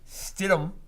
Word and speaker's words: Stidham: And I've seen so much this week talking about Jared Stidham.